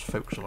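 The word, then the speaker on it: forecastle: so if you ever see four castles actually pronounce folks all around people always get confused with that one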